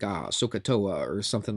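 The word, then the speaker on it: SOH CAH TOA: We'll say so, S-O-H, we'll pronounce it so. This is ka, and this is toa. So-ka-toa, so-ka-toa.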